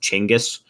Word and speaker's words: Chinggis: Also, I've heard that it's pronounced Chinggis, or the pronunciation varies, but I've heard both. Wow.